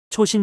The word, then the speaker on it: 장진호: 중공군 의의 추위와 싸웠다 장진호 전투다 미국에선 일본식 지명 발음을 따라 초신 전투라 부른다 자유민주주의를 지키기 위한 혈투